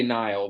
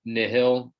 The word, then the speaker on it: Nihil: it's um it's not we say nile but i i think that the pr proper pronunciation is isn't it nihil uh we've i don't